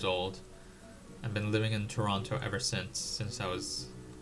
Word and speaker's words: Toronto: I know Torononians say Toronto. Toronto, but um I try to pronounce a T.